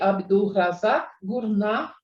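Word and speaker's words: Abdulrazak Gurnah: Eu suponho que o nome do autor se pronuncie Abdul Razak Gurnah.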